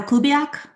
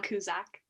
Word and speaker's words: Kuzak: Okay, is it Kubiak? Your Honor, it's pronounced Kuzak.